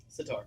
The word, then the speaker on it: sitar: I learned about I keep I'm never going to be able to pronounce this correctly. Sitar.